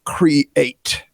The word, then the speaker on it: Kre8: a matter of fact, his name is Kre8, and that's spelled Kre and the number 8, has a unique perspective on how art stimulates us to go further, faster.